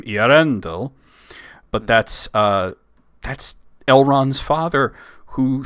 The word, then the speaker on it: Eärendil: He eventually decided that his fairies were called elves, and it became a little bit of a different pronunciation because he put the accent on the A instead of the E, so it became Eärendil.